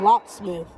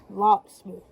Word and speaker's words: Locksmith: And the way you pronounce the channel is Locksmith. Locksmith.